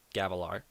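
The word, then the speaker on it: Gavilar: it it's g a v l a r gavalar okay gavalar is the king who gets assassinated who Z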